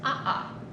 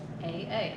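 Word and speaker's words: ʻaʻā: And the other one, this one is pronounced a'a. A-A, a'a. Again, a Hawaiian name.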